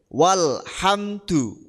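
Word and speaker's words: والحمد: dianggap tidak ada Alif walhamdu kan wonten Alif di tengah diikuti huruf sukun rupane lam lam sukun itu maka dianggap tidak ada Wal Jadi bukan Wal bukan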